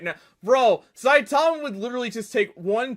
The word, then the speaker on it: Saitama: It's Saitama. Let me make sure they're doing that pronunciation correctly. But Saitama from One Punch. Yeah, that's actually not bad. That's actually not a bad pronunciation. Usually, but it's Saitama, but, like, honestly, not terrible.